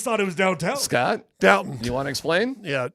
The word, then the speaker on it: Downton: Downtown Abbey? No, yeah, Downton, actually.